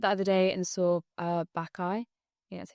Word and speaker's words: Bacchae: So I went the other day and saw Bacchae.